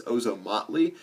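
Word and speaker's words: Ozomatli: like that's like jazz Hip Hop Latin that's ozom mle it's spelled o z o m a t l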